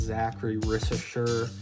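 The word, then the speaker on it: Zaccharie Risacher: I think his name's pronounced Zachary Rissacher, but French guy in the product.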